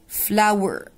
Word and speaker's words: flour: flour. flour دقيق. and ginger. ginger اللي هو الزنجبيل. تمام، يبقى هي استخدمت sugar سكر milk لبن flower بتتنطق زي flower وردة، هي هي نفس ال pronunciation بس الاختلاف في الكتابة،